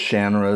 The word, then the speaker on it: Shannara: And I know it can be pronounced Shanara as well. That's how Terry pronounces it. I I don't know. Old habits die hard. I grew up calling it Shannara.